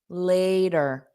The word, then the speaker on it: later: So notice this T in later. An American speaker in fast spoken English would pronounce this more of a d, later, der. This is called a flat T. So you just don't push out that puff of air so it doesn't create a pause.